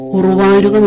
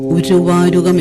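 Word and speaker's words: ഉര്വാരുകം: പ്രാചീന സംസ്കൃതത്തിൽ എന്ന ചില്ലക്ഷരമില്ല, ഉച്ചാരണവുമില്ല. ര് എന്നാണ് ഉച്ചാരണം. മലയാളത്തിൽ എഴുതുമ്പോഴും ഉറുവാരുകം എന്നല്ല, ഉരുവാരുകം എന്നും. വർദ്ധനം എന്നതിന് വരുധനം എന്നുമാണ് വേണ്ടത്.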